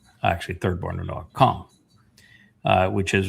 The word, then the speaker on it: Cham: Cham, which is everybody pronounces it as ham, but it's a C-H-A-M.